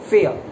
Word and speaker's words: fair: दोनों में आर वाला साउंड प्रोनाउंस नहीं करेंगे। बोलते टाइम आपको लगता है कि जैसे फेयर, वो कई बार बोलते टाइम हो जाता है, बट आपको अगर नोटिस करना है तो आर वाला साउंड नहीं प्रोनाउंस करेंगे, फेयर।